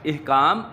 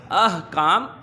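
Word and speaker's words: احکام: इहकाम गलत है, अहकाम दुरुस्त है। ये अलिफ के ऊपर ज़बर है, हे पर जज़्म है, अहकाम।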